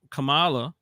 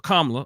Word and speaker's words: Kamala: fact that they did not want to choose Kamala or KLA I'm sorry and even that came up right like people are mispronouncing her name and I don't think that